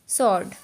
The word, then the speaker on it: sword: एस के बाद जब भी हमारा डब्ल्यू आएगा वो हमारा साइलेंट होता है, जैसे कि हमारा यहाँ पर डब्ल्यू आ रहा है, यहाँ पर डब्ल्यू आ रहा है, तो उसको हम क्या पढ़ेंगे, आंसर। sword। W silent.